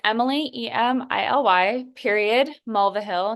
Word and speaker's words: Mulvihill: Okay, so it's Emily, Emily, period, Mulvihill. It's a little tricky, but it's spelled like it sounds.